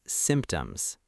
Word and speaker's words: symptoms: First, symptoms. The P is silent in casual speech for some speakers, but it's clearer to pronounce it lightly.